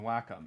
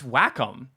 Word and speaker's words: Wacom: And I was just like, yeah, sorry, it's Wacom, Wacom, like whack 'em all.